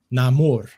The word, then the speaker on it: Namor: a recent clip from the film sees Huerta pronouncing namor's name namur rather than the typical pronunciation of Neymar Namor